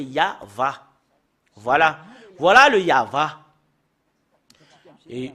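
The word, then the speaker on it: יהוה: on fait un recoupement comment on lit le Yod va c'est c'est vraiment très très clair c'est c'est comme ça qu'on le lit euh depuis ici jusque là c'est yava voilà voilà le yava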